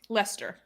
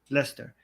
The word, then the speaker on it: Leicester: up hatred hatred in how do you pronounce this city again Lester Lester Muhammad hijab was also